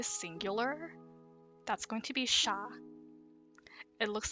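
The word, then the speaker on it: siya: she or they singular that's going to be sha it looks like but it's pronounced sha so for all the singular subject pronouns you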